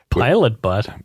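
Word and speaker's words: Pilot Butte: focus there okay so she's from Pilot butt pilot pilot butt b u tte oh okay pilot but then pilot butt it's just east of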